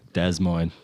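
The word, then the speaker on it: Des Moines: quarter finals lost to De Moine in Iowa tough one they get a good crowd out there actually yeah de Mo yeah desmine as the locals say that's uh what a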